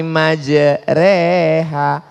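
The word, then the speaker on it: مجراها: ada cara membaca imalah Bismillahi majrea tulisannya majroha Tapi bacanya miring Bismillahi majrea namanya imalah mal mal artinya miring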